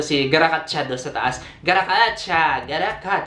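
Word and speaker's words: Gatotkaca: Garakacha, yun yung pronunciation sa MLA. Kagayahin natin, Brad. Garakacha, ayun, kita mo yan.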